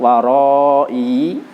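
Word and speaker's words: وَرَاءِي: Contoh yang tertulis di sini ada lafadz waroi dan lafadz wallai. Pertama lafadz waroi dan yang kedua lafadz wallai. Waroi, i-nya tetap dibaca panjang.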